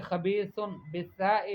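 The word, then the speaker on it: خبيث: فقولی آپ کہیں خبیث بالثاء لا بالسین، خبیث کہے ثاء سے، سین سے نہیں.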